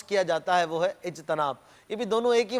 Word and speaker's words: اجتناب: اجتناب تو یہ بھی غلط ہے. آپ سمجھ گئے ہوں گے کہ اس میں بھی تا کے نیچے زیر ہی لگانا ہے، اور اجتماع کے وزن پر اجتناب، اجتناب کرنا ہے.